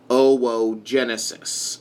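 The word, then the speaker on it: oogenesis: case OVA or eggs this process is called oh whoa Genesis this double-o is typically pronounced oh whoa second transportation of the OVA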